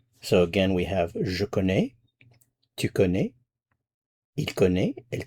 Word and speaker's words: connais: So if I want to say, I know, I'm familiar with, I'm acquainted with, je connais, C-O-N-N-A-I-S, je connais.